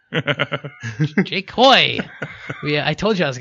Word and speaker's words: Hoey: Today we have Jake Howe. It's Jake Hoey. Jake. Oh, shit. Rhymes with boy. Jake Hoy.